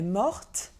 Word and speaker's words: morte: like, la mère est morte. So mère, mother, is feminine. It makes the whole noun phrase feminine. And the adjective morte has a t sound at the end, which is the feminine agreement.